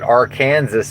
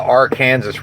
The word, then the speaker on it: Arkansas: from Arkansas City, Kansas, but she said they pronounce it R Kansas City and then she said in Kansas they call it the R Kansas River and I I just